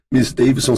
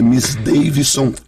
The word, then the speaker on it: Misdeyvison: Miss Davidson se escreve MISDEYVISON. Porque o meu nome é Miss Davidson de. Então Miss Davidson se escreve assim, se escreve.